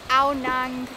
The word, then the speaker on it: Ao Nang: So here we are, we've made it on the bikes to Ao Nang Beach. Am I saying it right? Ao Nang Beach, yeah.